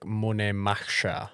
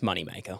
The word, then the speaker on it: Moneymaker: Is it supposed to be pronounced Moneymaker or is it like Moneymacher? No, it's Moneymaker.